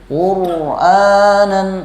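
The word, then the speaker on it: قرآنا: Lalu quranan ra ini termasuk huruf tawasul. Jadi bacanya agak diulur sedikit. Quranan bukan quranan kurang pas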